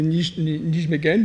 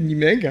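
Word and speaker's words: Nijmegen: une radiosensibilité dans le syndrome de nigmen ou nimeg si on le prononce à la française il y a une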